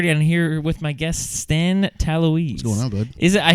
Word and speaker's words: Talouis: What's the pronunciation? Talouis? Talouis.